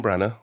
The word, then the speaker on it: Branagh: Do you say Branagh? Branagh, yeah. Branagh.